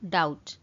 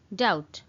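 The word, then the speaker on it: doubt: Eighty गोटे जिनसे notice करेंगे फ्रेंड्स बी अच्छी बट बीटा प्रोनाउंस कला बेले साइलेंट हो जाए तो से आम पढ़ू डाउट। डाउट।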